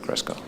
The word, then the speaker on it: Kresko: going to lead off mr cresco am i pronouncing that correct cresco thanks just state your